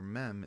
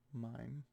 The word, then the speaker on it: Mem: is water in Hebrew, which is pronounced meme. Mem. I'm like, I don't know. I thought it was always pronounced that way. Mime. Mime? No, it's not mime. It'd be mem.